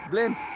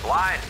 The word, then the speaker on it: Blind: It's pronounced blind. Roger that. Now it's a party. Young, cover the wing. Of course. Smalling, don't let them through. They're everywhere. Blind, move forward. It's blind, like wind.